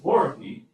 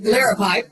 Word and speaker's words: liripipe: and it has the lovely loripy. Is that how you say it? Liripipe. Liripipe. I got it.